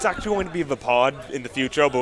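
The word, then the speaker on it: Vaapad: The pod, spelled very, very weird. It's spelled V-A-A-P-A-D. So Vapid.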